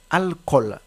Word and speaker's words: alcool: pas alcool c'est alcool alcool et non alcool d'accord la bonne prononciation c'est alcool autre mot à prononciation